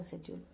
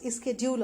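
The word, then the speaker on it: schedule: और इनका international शेड्यूल is also pronounce स्केड्यूल also, ठीक है। आप दोनों ही प्रोनाउंसिएशन को ध्यान में रखेंगे ताकि कहीं आप सुने तो आपको समझ में आ जाए।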